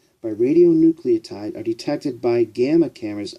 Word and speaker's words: radionuclide: RADIO NUCLIDE, radionuclide, is the proper pronunciation.